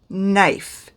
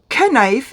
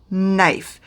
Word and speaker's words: knife: word knife it is knife it is spelt with a k but you don't pronounce the k so it is not pronounced canife it is pronounced knife same with psychology it